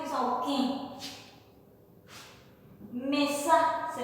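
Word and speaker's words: okẽ: Puerta se dice oquín, con un acento nasal. Mi nariz se cierra un poquito y dice oquín.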